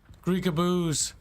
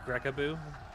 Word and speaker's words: Greekaboo: Greekaboos. If anything, like, the Why are they sending them across guy the field? manning the ballista got It's all the actually kills. pronounced. It's actually pronounced Grekaboo.